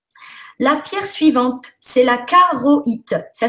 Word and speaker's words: charoïte: La pierre suivante, c'est la charoïte. Ça s'écrit charoïte, si les gens veulent le trouver sur Internet. Hein. Ça s'écrit charouat, si tu préfères, hein, parce que c'est un i tréma.